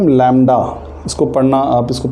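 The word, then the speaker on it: lambda: तो ये Greek letter है और इसको बोलते हैं हम लैम्डा। इसको पढ़ना, आप इसको प्रोनाउंस करना सीखिए।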